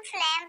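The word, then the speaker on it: phlegm: जी एम में जी को नहीं पढ़ा जाता, जैसे कि इसमें हम फ्लेम पढ़ रहे हैं और जी को नहीं पढ़ रहे, यहाँ ये जी साइलेंट है।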